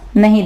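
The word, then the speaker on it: know: के जो है वो साकिन होगा, के आवाज नहीं देगा।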